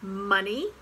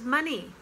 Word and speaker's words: money: cousin and then there's money yes it rhymes with funny and honey same as money not honi honey honey